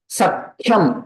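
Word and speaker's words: सख्यम्: Ka will be added to previous, and Kha is Mahaprana, so their Ucharanam also should be Mahaprana only. Sakhyam, Sakhyam. That is the correct pronunciation.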